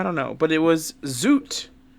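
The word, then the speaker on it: zut: But it was zoot. Spelled Like- Z-U-T. Like the suit? Yes, but with a... That's how I kind of say it, but with a Z.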